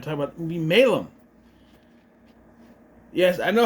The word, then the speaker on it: Malum: So, that dictates it should be pronounced Malum, not Malum. So I'm going to call it Malum because that's how it should be pronounced.